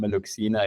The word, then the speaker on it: MeluXina: Did I pronounce it right? You you got it right. It's called Meluxina.